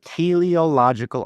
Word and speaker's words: teleological: This is how it's pronounced. The teleological argument.